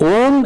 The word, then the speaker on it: Om: Then he corrected that Om is a word whose spelling is not OM means in terms of pronunciation it is actually three letters that combine but they are not separate as sister said why